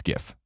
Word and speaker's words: GIF: they can live in ignorance and call a gift if they want I just want to really